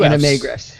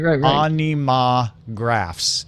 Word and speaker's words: Animagraffs: Maybe if we pronounced it anima graphs instead of anime graphs. Yeah. Right. Anima graphs. Like giraffes, but without an I and an E.